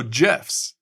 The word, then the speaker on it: GIF: I can even show GIFs. And before you comment and say I pronounced that wrong, how do you say giraffe? It's J, not G.